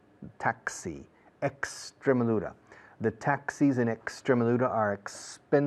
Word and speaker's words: Extremadura: The rule in Spanish is la X antes de un consonante es como S. Extremadura, no Extremadura. Extremadura.